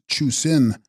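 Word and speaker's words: Chu-srin: And Chushrin, pronounced Chusin, water lion or leviathan, Sanskrit Makara, a mythological monster.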